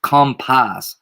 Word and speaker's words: COMPAS: But I almost want to say when they pronounce it, it's compass, like compass. Like when you say it in jail, it's like compass.